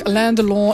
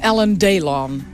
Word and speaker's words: Alain Delon: in een film waar Alain Delon in heeft gespeeld. En We zitten in de dag van de uitspraak. Alain Delon, in het Engels is Alan Delon.